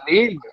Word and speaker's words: Lille: Lille. He didn't pronounce it good.